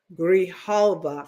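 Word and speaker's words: Grijalva: Grihalva, I believe I'm pronouncing it correctly.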